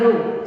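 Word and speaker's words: rho: representation for what density it is pronounced as a row spelling is Rh row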